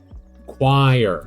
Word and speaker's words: choir: Um, so what the Choir. Okay, I was not processing that choir rhymes with sire because of their letter differences.